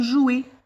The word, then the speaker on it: joue: Et on a maintenant le verbe jouer. Alors, jouer, il s'écrit avec ER.